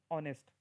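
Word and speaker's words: honest: है ओ साउंड है ऑनेस्ट एच इ silent it it sounds as अ ऑनेस्ट ओ ठीक है मून म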